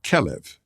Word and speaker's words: kelev: The Hebrew word for dog is kelev. As Hebrew has no vowels, the word is actually spelled KLV. Those three letters can also be pronounced as kalev, which means like the heart.